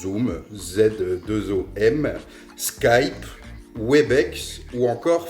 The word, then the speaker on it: Zoom: Bien sûr, il existe des outils disponibles en accès libre et gratuit et simple d'utilisation comme Zoom, comme ça se prononce, Zoom, Z2OM, Skype, Webex ou encore Framatalk.